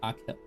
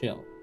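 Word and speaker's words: Achill: Uh, one of the five counties in the province of pronounced Akil. Oh, it's Akil. It's Akil, not Aill.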